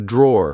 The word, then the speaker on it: drawer: Like I said, be careful because in British English, we don't pronounce the e at the end.